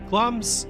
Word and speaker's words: Glamis: Glamis Castle, yes, the I isn't pronounced actually, is in eastern Scotland,